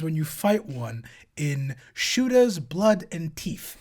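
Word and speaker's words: Shootas, Blood & Teeth: you fight one in shoter blood and teeth it's an orc game that's actually how it's pronounced and the following cutscene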